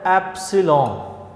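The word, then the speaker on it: epsilon: ये जो एप्सिलॉन है इस वर्ड को आपने प्रोनाउंस यूँ करना है, ये ग्रीक लैंग्वेज का वर्ड है एप्सिलॉन, ठीक है, और ये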